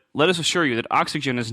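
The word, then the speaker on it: Oxygene: it looks like O oxygen but they insist it is pronounced oxygen so if you write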